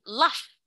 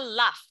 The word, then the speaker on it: laugh: Oke, jadi di sini laugh. Laugh itu tertawa. Hahaha. We can just say ha ha ha ha. Itu adalah laugh. Bacanya laugh. Tulisannya L-A-U-G-H. Bukan laug, tapi laugh.